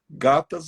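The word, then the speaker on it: gathas: Gatas a gente escreve como se fosse escrever gata, só que o final é T-H-A-S, gatas.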